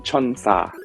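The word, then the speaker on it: 천사: This number is part of the song title for BAP's Angel, as they're pronounced the same in Korean. Your options are A, 10,004, B, 1003, or C, 1004. Kevin. Kevin. Yep, answer. What is C, 1004, or in Korean, chonsa?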